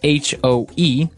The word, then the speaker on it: hoe: It's H-O-E, and it's pronounced hoe.